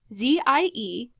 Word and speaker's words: zie: If you are curious about pronunciation, ZIE is pronounced Z and replaces he or she, and HIR is pronounced here and replaces his or hers.